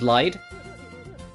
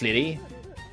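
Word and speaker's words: Lydie: Or how Liddy is lied. But no, it's Liddy. It's pronounced Liddy.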